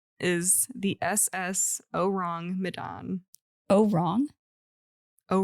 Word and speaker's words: Ourang: Oh, wrong? Oh, wrong. Yeah, I specifically looked up how to pronounce it, and I put it in parentheses as oh, wrong. But it's spelled Ourang, Medan.